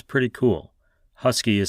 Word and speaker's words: Huskee: Husky is spelled Huskee.